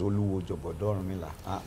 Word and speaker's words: Oluwo Jogodo Orunmila: Okay, so pronounce it for us. Yeah, so my name is Oluwo Jogodo Orunmila.